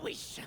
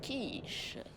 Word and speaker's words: quiche: ma clope, mon sang et ma wish. Mais ça se prononce quiche bordel de merde.